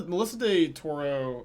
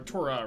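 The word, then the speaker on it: DeTora: Melissa de Toro, or Tora, right? Not Toro.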